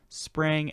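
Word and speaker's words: sprang: a spraying work method no i didn't mispronounce spring it's spraying spr ang work method um and according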